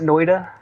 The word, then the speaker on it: Noita: How do you say it? Noita? I pronounce it Noita.